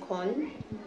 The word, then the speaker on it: Kony: I think they're interested to hear my point because his name is actually pronounced Kon.